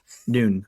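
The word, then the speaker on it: Nunh: Only if you allow me to roleplay as a hardcore nun with all my bitches. Noon, sorry, noon is how it's pronounced, not nun.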